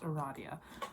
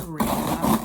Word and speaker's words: Aradia: verisa Equus tavos and Aradia I'm sorry it's pronounced Aradia not Aria um I killed tzi uh